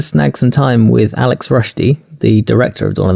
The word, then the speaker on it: Rushdy: So, for all of our listeners, I'm joined by Alex Rushdy. Did I pronounce that correctly?